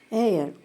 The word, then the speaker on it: heir: Especially her words that begins with H, the consonant. So, all these words, air, honesty, hourly, all these words are voiced as though they begin with vowel. Heir, honesty, hourly.